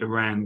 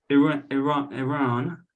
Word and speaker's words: Iran: midfielder Adams before the Iran game. And his first thing, he said, well, I have two things. First one's not really a question, it's just a point. Our country is pronounced Iran, not Iran.